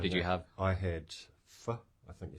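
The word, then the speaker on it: phở: I had pho, I think you say. Pho. I always say it wrong, but it's 6 definitely not tones. pho. Vietnamese language has 6 tones.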